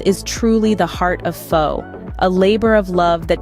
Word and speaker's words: pho: lovers across the globe foe pronounced f is a unique dish